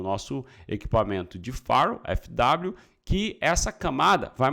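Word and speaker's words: firewall: um farrow não é far All não é Farel é um farrow farrow que que é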